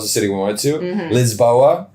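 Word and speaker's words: Lisboa: city we went to Liz boa this is how the locals say it um and I I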